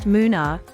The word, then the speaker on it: Munnar: It is pronounced Munnar, short for Munu-ar, meaning three rivers.